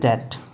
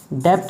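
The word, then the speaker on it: debt: Meaning सभी को पता होगा, enable one हु is unable to पे हिज डेट, टू पे हिज डेट। डेप्ट नहीं बोलते हैं इसको, काफ़ी बच्चे डेप्ट बोलते हैं, बी साइलेंट होता है डेट, ओके।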